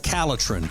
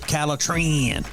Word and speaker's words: Caletrin: you need is called caletrin or you can pronounce it calatran very easy for you